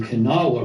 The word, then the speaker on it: Kanawha: The Kanawha River is how you pronounce it.